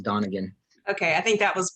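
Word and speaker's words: Donigian: okay exactly it's spelled don niggian but it's pronounced donegan okay i think that was what i was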